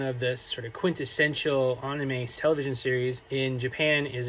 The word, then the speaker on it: anime: I pronounce it the way the Japanese do, anime, as opposed to anime, but pronounce it however you like.